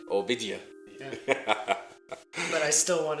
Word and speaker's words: Obadiah: survey of the book of obadia and it's pronounced obida obida yeah but I still want to say